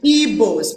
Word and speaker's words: Igbo: Now, in 1912, Ndigbo were still referred to as Igbos, people of the Igbo area. It was spelled E-B-O-E. Because the book sound, the GB sound, was so hard for them to pronounce that they hear Igbo.